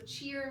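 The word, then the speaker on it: tìr: Um, so cheer means land and it's pronounced like cheerleader, but it's written t i r t i r.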